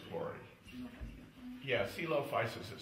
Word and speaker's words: Coelophysis: oh this came from oh it's called the celop fisis quy yeah celop fisis is spelled right in back c e l o